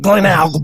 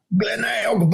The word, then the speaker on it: Glenelg: And so the little website that I found was an angry woman screaming, Glenelg Beach. So that's why you got that pronunciation. Glenelg Beach.